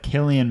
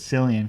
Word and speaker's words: Cillian: People think it's Cillian because it's a C. Yeah. I thought it was a C until I heard someone say his name and didn't correct him. So I assume Killian is the way you pronounce it.